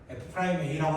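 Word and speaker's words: f′(a): 미분 계수 그 기호의 표시를 앞으로 f프라임 a라고 합니다. f프라임 a 프라임 a라고 읽어야 돼. 점이라 읽으면 안 돼.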